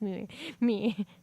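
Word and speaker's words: Miu: Her name's Mew too, but it's spelled M-I-U, a very interesting way.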